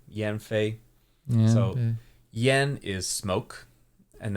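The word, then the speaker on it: 烟绯: me so this is Yen Fe Yen M Yen Fay so yen is smoke and then Fay I've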